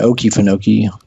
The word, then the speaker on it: Okefenokee: Yeah, Okefenokee.